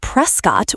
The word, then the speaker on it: Prescott: It's Prescott with the long O sound.